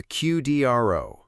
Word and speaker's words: QDRO: Section one, the QDRO, the legal document that controls everything.